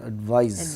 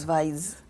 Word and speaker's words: advise: So, here it's advice, advise, and also remember that there's a slight differentiation in the pronunciation, advice and advise. advise zuh with me Um practice, practice.